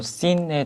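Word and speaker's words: سين: 네, 다음으로 씬에 대해서 한번 배워보겠습니다. 이 알파벳은 씬이라고 읽고요. 음가로는 소문자 S입니다.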